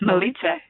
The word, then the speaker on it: Milica: thank you for saying yes is it pronounced Malita yes exactly how it doesn't look okay yeah